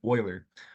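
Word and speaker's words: Euler: famous mathematician called lard Oiler um e l e r is pronounced Oiler he provided the symbol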